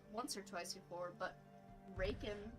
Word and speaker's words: Rakan: or twice before, but Raken, Rockin, no clue how to say your name. I'm so sorry, my love. But that's a new face along with Skarner. Yeah, Rakan. Rakan is how you say it. I'm pretty sure.